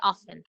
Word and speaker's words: often: T is silent. Okay, we say often, right?